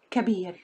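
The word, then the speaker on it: كبير: So, the second syllable, ba, ya, ra, beer. Put beer with the first syllable, ka, ka, beer, kabir, kabir.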